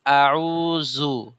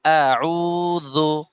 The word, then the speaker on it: أعوذ: আউযু বিল্লাহি ওই মিনাশ যে শাই- জালটা উচ্চারণ হলো না। আউযু, জু না, জু আপনি বলতেছেন আউযু, জু এটা ভুল। জু নরম, একদম নরম। আউযু, আমরা জাল যেভাবে উচ্চারণ করেছিলাম এইখানে ওইভাবেই উচ্চারণ করতে হবে।